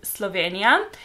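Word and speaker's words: Slovenija: will be Slovenia obviously in Slovene we pronounce it Slovenia and our capital city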